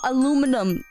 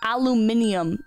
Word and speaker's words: aluminium: anal venal aluminum yeah like if you want to if you want to be casual I think aluminum is how you say aluminum right but when you want to be precise in your speech I think aluminium is the correct thing to say right because that's the proper term for it you